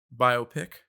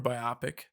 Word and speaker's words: biopic: We've got biopic or biopic. I've heard it pronounced both ways.